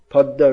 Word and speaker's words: Padma: Most of the water from the Ganga goes into the Podda river in Padma, but in Bengal it's pronounced Podda.